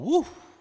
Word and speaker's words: Whew: It's actually called Woo. That's really how it's pronounced, but Okay.